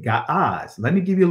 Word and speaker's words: Ge'ez: Right now, it's called Ge'ez, but I pronounce it Ga'az.